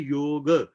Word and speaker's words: योग: योग है, योगा नहीं है। वो योगा कुछ और है जो पढ़ाते हैं, हम तो योग की बात कर रहे हैं।